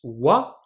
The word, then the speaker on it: は: à la prononcer voit du coup elle se prononce ouah mais elle s'écrit bien que lucky lagana à